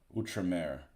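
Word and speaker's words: Outremer: on the Crusades and that's uh utra I thought I was like oh it's out Ramer like I don't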